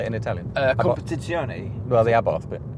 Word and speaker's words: Competizione: Competizione. Well, the Abarth bit. Abarth. Yeah. I'm asking you as a native. Abarth. It's Competizione.